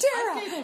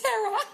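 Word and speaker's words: Terah: Terra. It's Terra.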